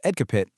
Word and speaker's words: EDCAPIT: This is the core of what Ed Capit, which is pronounced EDC capit, is all about.